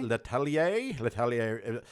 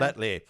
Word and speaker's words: L'Atelier: L'Atelier. It's La the French. Atelier Bistro. Ooh, the bistro. La Atelier. It was French cuisine. L'Atelier? I don't know. L'Atelier.